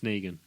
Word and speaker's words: Negan: It's Negan. Negan. What do you think it is? You could pronounce it differently to no, everyone else?